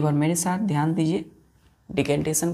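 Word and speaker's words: decantation: आई ओ एन डी इसको डी नहीं पढ़ते डेकंटेशन पढ़ते क्या पढ़ते प्रंस कैसे करेंगे लिखेंगे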